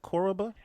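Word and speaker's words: Koroba: ask you the definition of koraba is it koraba is that how you say it yes what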